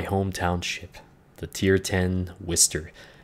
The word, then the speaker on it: Worcester: ship the tier 10 Wistar yes that's that's how it's pronounced if like thankfully I don't have my accent anymore otherwise its Wister but uh yeah it's